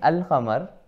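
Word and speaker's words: القمر: this way right and in alhamar the lamb is pronounced right the lamb is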